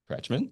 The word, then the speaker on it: Kretschmann: Kretschmann. The K is silent.